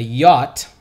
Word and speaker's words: yacht: parties and the orgies on his yacht a yacht that's how it's pronounced their yacht a yacht is a big